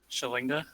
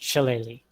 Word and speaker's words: Shillelagh: Shalinga? No, it's pronounced Shillelagh.